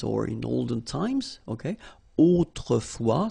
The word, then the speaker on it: autrefois: Autrefois, so A-U, autrefois, final S not pronounced, okay?